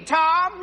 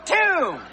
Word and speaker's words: tomb: bomb t m b Tom no tomb if t m b is Tomb that's Boom the bomb's over but no that's bomb that's tomb get ready is this